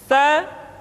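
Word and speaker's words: ث: Sa dikeluarkan dengan menyentuhkan ujung lidah kita dengan dinding dua gigi seri bagian atas. Diucapkan dengan suara dan nafas yang terdengar mengalir.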